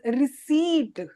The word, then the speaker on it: receipt: This word is known as receipt. P is silent.